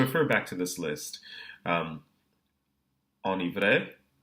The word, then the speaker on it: enivré: Enivré, enneigé, ennui. So we're still pronouncing the N in these cases, but the vowel that precedes it is nasalized.